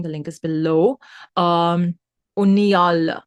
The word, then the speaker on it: Uniyal: link is below um unal I've been told is how his name is pronounced so uh I think